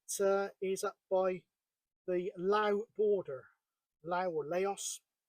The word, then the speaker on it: Laos: is up by the Lao border LA or Laos the proper or the local pronunciation is La but Laos it sounds like somewhere